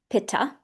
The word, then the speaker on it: pitta: And that pitta person can be pronounced pitta.